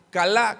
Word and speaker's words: calá: la palabra maldiga es la palabra hebrea calá con acento en la a y significa hacer ligera